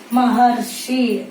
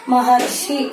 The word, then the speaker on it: ಮಹರ್ಷಿ: ಬರುತ್ತಲ್ಲ ಏನಂತ ಬರೀತೀರಿ ಹೇಳ್ರಿ ಮಹರ್ಷಿ ಅರ್ಷಿ ಅಂತ ಕರೀತೀವಿ ನೋಡ್ರಿ ಅಲ್ಲಿ ಅರ್ ಮಹರ್ಷಿ ನಾವು ಹೇಳಬೇಕಾದರೆ ಉಚ್ಚಾರಣೆ ಮಾಡಬೇಕಾದ್ರೆ ಮಹರ್ಷಿ ಅಂತ ಉಚ್ಚಾರಣೆ ಮಾಡ್ತೀವಿ ನಂತರ ಅದೇ ರೀತಿಯಾಗಿ ರಾಜ ಪ್ಲಸ್